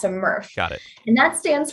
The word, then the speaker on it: MRF: And then it gets shipped to what we call a MRF. A MRF. Pronounced like Smurf, but without the S, a MRF.